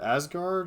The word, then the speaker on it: Asgard: Yeah, It it's was like like an a Nordic Asgard deck.